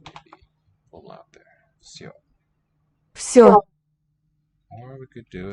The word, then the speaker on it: всё: An E that is pronounced yo. That's what the two dots tell us. Maybe a little out there. Всё. Все. Or we could do it more phonetically like that. Всё.